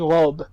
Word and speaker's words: robe: But on the other hand, when we have something like robe, where we have B, but it's followed by a vowel, it's followed by the letter E, then we're going to really pronounce it. It's like when you pronounce a consonant, you're going to pronounce it. So une robe. Une robe. So two syllables.